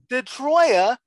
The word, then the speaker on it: DiTroia: samantha how do you say your last name detroya detroia from my favorite legal nonprofit i do play